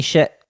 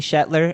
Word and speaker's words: Shetler: what's up this is shet oh god i butchered my own name all right what's up this is shetler and you're watching talking schmidt you it's cool